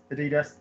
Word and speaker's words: Adidas: Puma and no that's Adidas isn't it yeah Adidas you say Adidas yeah yeah yeah and we have puma and